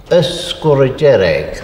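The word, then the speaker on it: Sgùrr Dearg: Now, the native pronunciation is Skrugjereg, the being the. There is a glide A or a sound put between Skur and Jerek.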